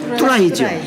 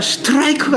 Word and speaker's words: 스트라이크: 근데 뚜라이는 없는데 찾아보니까 스트라이크가 있어. 스트라이크. 응? 자, 스트라이크. 뭐만 들려요? 뚜라이만 들려. 뚜라이만. 스트. 뒤에 나오는 이건 다 안 들려. 묵음이야. 그죠? 그러니까 어린 아이들이 들리는 것만 듣고 배웠어요. 그러다 보니까 계속해서 뚜라이 했던 거란 말이에요.